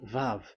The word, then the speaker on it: vav: So the way we read it is VAV. So we wrote it as VAV. We called it as VAV. VAV. Your mouth is like closed. VAV. So it's V as in Vogue. So it's really V.